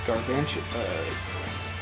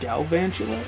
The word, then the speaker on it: Galvantula: There's a Mudsdale and a Gargantua, not Gargantua. How do you pronounce it? Galvantula? I think so.